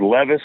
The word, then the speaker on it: Levis: Okay, so the other thing that scares me is that their quarterback, is it Levis?